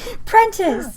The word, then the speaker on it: Prentice: There's no L in that name. Prentice.